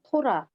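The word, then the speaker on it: תורה: 그 다음에 끝에 여기 해가 오거나 알렙이 오거나 그러면 발음을 거의 안 해줘요. 그래서 그냥 눈으로만 보고 그냥 토라고 말아버리는 거예요. 발음 안 해요. 끝에 이 해가 오거나 알렙이 오면 묵음 처리되는 거. 처리되는 거예요. 소리가 약해가지고 안 내요.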